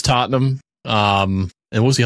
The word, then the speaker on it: Tottenham: Angeles AC Milan Paris Tottenham I like you pronouncing these names it's funny did I did I not do any of them right um you say Tottenham Tottenham Real Madrid it's Tottenham um and what was